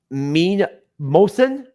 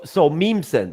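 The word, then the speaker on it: Mnemosyne: Mean Mosin. Okay, whatever. The M is silent. It's the just the end. Oh, okay. So Memeson or Meme side.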